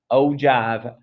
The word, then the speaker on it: ogive: there's a different type an ogive is how you say that oh jive is how you say